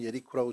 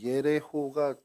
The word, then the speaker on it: 여리고: 이 여리고가 뭐 오늘날에는 제리코라고 또는 예리코라고 이렇게 불리기도 하는데 히브리어 발음으로는 예레호가 정확한 발음입니다.